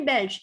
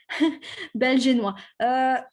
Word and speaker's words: belge: Donc, je suis belge if you are a man. Je suis belge if you are a woman. Same writing, same spelling, same pronunciation. Belgianois.